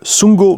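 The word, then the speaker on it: Sundgau: Alors, donc, le 21 et 22 janvier, le Sungo Mini Z, ça s'écrit comme ça se prononce, S-U-N-D-G-A-U Mini, tiré du milieu Z, fait une manche de championnat Mini Z.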